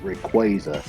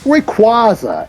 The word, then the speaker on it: Rayquaza: better it's great another pronunciation i don't agree with this it's uh is calling him calling the legendary dragon of poland rayquaza it's rayquaza as in quasar yeah because that's where